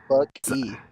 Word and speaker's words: Buck E: says something, and then Buck E. Well, you say it like his first name's Buck and his last name starts with an E, so everyone calls him Buck E.